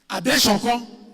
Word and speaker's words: Adesokan: And in the case of Adeshoko versus Adetunji, she has left. I wanted to know the proper pronunciation. Spelled as Adesokan. Adesokan. But I understand that Yoruba pronunciation, S is sh. Yeah, so Adeshoko.